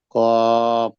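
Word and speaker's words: ق: কপ। হুম, ওটা একটু, কফটা বলার সময় কপ। পুরো সেই জিহ্বার গোড়া, জিহ্বার পুরো শেষ সীমানা হুম, উচ্চারণ হবে, হুম, কফ।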